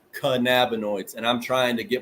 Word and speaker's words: cannabinoids: real trouble pronouncing cannabinoids I say cannaboids a lot but it's canab noids and I'm trying to